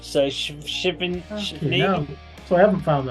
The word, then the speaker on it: SHvininiai: But it's not Shivani because there's no S, there's no I after the H. So Shivini.